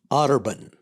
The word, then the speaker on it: Otterbein: Otterbein.